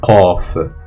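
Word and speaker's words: ق: La deuxième, c'est le qaf. Qaf, une autre lettre gutturale. Donc en fait, c'est un son qa.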